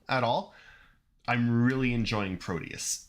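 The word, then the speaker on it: Prodeus: the most recent Doom you should explain how it's spelled because that's definitely not how how I would have spelled it right e-r-o-d-e-u-s Pro Deus yeah proteus a great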